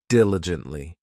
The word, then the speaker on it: diligently: This adverb has four syllables and the stress is on that first syllable, diligently.